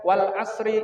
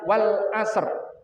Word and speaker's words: Wal Ashr: tepat membacanya surat al-ashr yang biasanya dibaca Wal Asri Innal insana lafi khusrin Illa Illa sholihatin sudah benar tetapi kurang tepat yang tepat adalah Wal Ashr Innal insana belakangnya kemudian